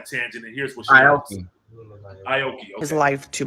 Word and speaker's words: Aoki: Then the daughter, Akoi, did I pronounce her name right? She started, she went on a tangent, and here's what she Aoki.